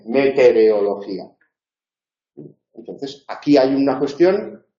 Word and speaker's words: meteorología: Entonces, en meteorología, pero es meteoro, no meteoreo, que es lo que pone ahí, meteorología.